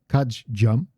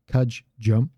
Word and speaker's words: kajjam: Again, there's a little pause there, and I exaggerated the pause a little bit this time, but it's kajjam, kajjam. There's a little pause in there. Both need to be pronounced.